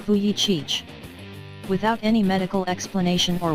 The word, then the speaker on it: Vujicic: embrace those you love meet nicolas logistic pronounced fuyi Cheech without any medical explanation